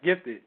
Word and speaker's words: Gifted: our special guest is now do you just pronounce it gifted yes gifted a lot of people who see it yeah